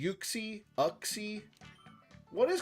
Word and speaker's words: Uxie: Azelf, Mesprit, Uxie. Is it Uxie? How do you guys say that? Uxie, Uxie, Uxie?